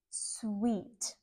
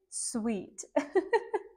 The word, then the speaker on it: suite: sweet it is particularly interesting because of the pronunciation sweet I bet you want to say it differently but it is sweet and here a sweet is a place where